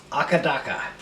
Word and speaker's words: AC/DC: Today, Akadaka. As it's pronounced in Australia.